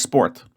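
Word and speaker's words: спорт: English o and then this which looks like P in English is actually R in Russian and T is the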